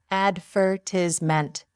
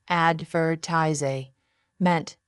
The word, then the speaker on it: advertisement: British English says advertisment meant not advertis meant tip.